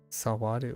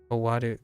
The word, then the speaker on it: 終わる: Sawaru or something. No, Sawaru is to sit. Verb ending in rhymes with aru tend to be intransitive. Yeah. That only works like 50% of the time. 終わる Owaru.